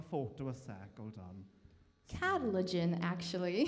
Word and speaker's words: Katalogen: So how do you pronounce the name again? Catalogen.